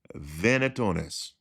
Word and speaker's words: venationes: an animal hunt and I really do believe it's pronounced vetonis and if I'm wrong